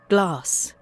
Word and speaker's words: glass: Okay, notice how they pronounce this letter A. It's with the ah sound, like the word father.